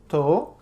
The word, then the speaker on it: tou: I noticed when you answer the phone with someone, you just say tu. No, not 2. To, To, which is an abbreviation of estou, which means I am.